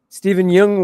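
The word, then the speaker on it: Steven Yeun: Steven Jung was also in it.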